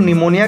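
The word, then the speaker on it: pneumonia: हो जाएगा हम लोग निमोनिया का स्पेलिंग पी से स्टार्ट होती है जो की पी क्या होता है साइलेंट होता है तो हम लोग निमोनिया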